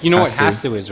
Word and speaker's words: HasuObs: I've heard people say Hasu. No, Hasu. It's like, you know what Hasu is, right?